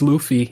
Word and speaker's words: Luffy: Luffy Luffy is that how you say it's Luffy yeah yeah I've I've never heard it said